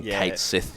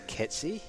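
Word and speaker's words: Cait Sith: interesting ah the gaelic i feel extra white now having called him kate sith this whole time yeah like the gaelic pronunciation i think is ketsi or something like that um it's based off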